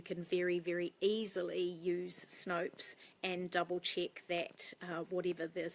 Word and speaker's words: Snopes: pronounce that right and that does rhyme with soaps so it's called Snopes if in Opa es and that is amazing